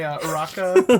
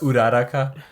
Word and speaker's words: Uraraka: pillow, so that my Uraka body Yeah, pillow. Uraraka. And I'm just Holy like, shit. Uraraka. And then you Sorry, have like Ryan, it's pronounced Uraraka.